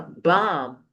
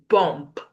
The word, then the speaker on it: bomb: So the first picture here is a bomb. You don't say bump. You say bump because the s the b there is silent.